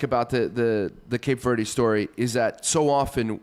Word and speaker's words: Cape Verde: Okay, the correct English pronunciation is Cape Verde. Okay. All right. Which I thought Don't say the E ever.